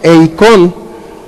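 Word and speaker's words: εἰκών: griego es una palabra que se llama eicon así como se pronuncia con k e y con y significa que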